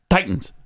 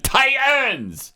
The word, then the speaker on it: Titans: Yes, Titans. Titans go. Why do you have to make such an effort to mispronounce it? Tyens. It's not Tyen.